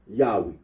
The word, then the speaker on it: Yahweh: yahi the scholarly consensus is that the original pronunciation of the Tetra gramon was yahwe arino agrees that when in the late first